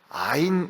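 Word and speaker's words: עין: 강조를 하고 싶은 것은 아인 이라는 잡자 아인 이라고 읽고 또 아이미 문 이란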